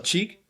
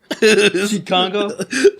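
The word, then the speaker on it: Cheick Kongo: Cheek? Cheat Congo? Like butt cheek Congo. Butt cheek Congo. I always thought it was check. Cheek.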